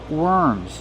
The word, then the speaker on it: worms: When we have W-O-R, we change the pronunciation. We do not say or, we pronounce it were, worms. Use the sound like burger.